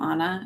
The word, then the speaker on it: Ana: Um, I really kind of dislike when people like I'm not Anna, I'm Anna and people call me Anna